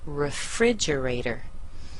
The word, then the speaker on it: refrigerator: our word rri rator refrigerator so the second sybl is the most stressed the first one is weak the third one is